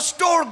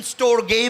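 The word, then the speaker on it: storge: इस मोहब्बत को स्टोर्ग बोला जाता है। कुछ लोग इसकी प्रोनाउंसिएशन स्टोर्गे भी करते हैं, लेकिन ये स्टोर्ग है।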